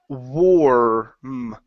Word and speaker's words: warm: the word war mmm instead of mom or warm it's like an o our sound warm whoa warm almost uh let's see here wah wah wah okay so you're saying more of an arm okay instead of all its 0 or or or warm Wong there you go